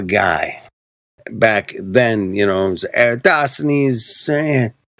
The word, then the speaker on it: Eratosthenes: Back then, it was Eratosthenes. They always mispronounce his name, too, man. They're like, fucking Rockeries.